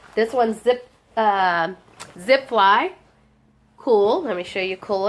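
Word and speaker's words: Kühl: sell quickly and well it's called cool but it's spelled k u HL cool I think is how you pronounce it and their men's pants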